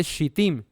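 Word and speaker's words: שטים: eso ocurre en sitim Cómo se dice en hebreo se dice shtim Qué traduce acasia eso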